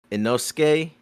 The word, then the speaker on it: Inosuke: that whole little joke with what's his name, Inosuke.